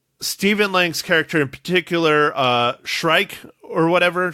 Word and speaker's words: Shrike: Lang's character in particular, Shrike or whatever. Shriek? Yeah, I think it's Shrike. I think she pronounced it Shrike, yeah.